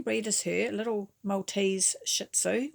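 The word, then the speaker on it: Shih Tzu: as her little males shitzu or shisu to say it properly very gentle but it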